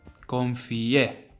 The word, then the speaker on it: confié: The tilde at the end tells you where to put the emphasis, on the E. Confié, not confié or confié, which will mean something else.